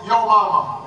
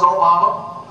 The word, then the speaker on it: Obama: name Barack Obama although people would mispronounce it and they would call me Alabama or they would call me y mama and I would say no no it's Obama and my father was